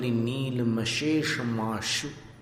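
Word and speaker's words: नीलमशेषमाशु: मली नील मश मश श में आपको जीभ नीचे रखनी है नीचे वाले दांत के पीछे और फिर शेष में जो श है वहां आपको जीव ऊपर ले जानी है मश माश फिर शु में नीचे लानी आक्रांत लोक नील मशेषा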